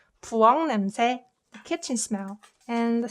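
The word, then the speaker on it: 부엌 냄새: If you try to pronounce it fast, it becomes 부엉 냄새, 부엉 냄새, 부엉 냄새.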